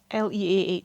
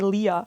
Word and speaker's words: Leah: one or the other, because there are two very common, I think, pronunciations of it. How would you pronounce Leah? Leah. I would probably say Leah. Yeah. However, I know someone whose name is spelled thusly and whose name is pronounced Lee.